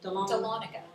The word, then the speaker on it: Dahlonega: So it's Dahlonega. Thank you so much. That's it. I never have known how to say that. Thank you. Say it again, Katie. Dahlonega.